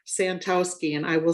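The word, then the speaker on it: Santowski: And the way that I'm presenting is Santoski. And I will spell both. is spelled L E R C H.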